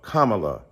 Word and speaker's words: Kamala: you call Melania Melania do you call Ivanka Ivanka then call kamla Kamala all right so that's